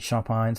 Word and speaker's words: Champagne: and in henderson louisiana it's champagne's bakery but around here we pronounce it champions so uh i'm the